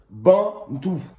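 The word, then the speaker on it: Bantu: On écrit Bantou avec un U à la fin, B-A-N-T-U, Bantou.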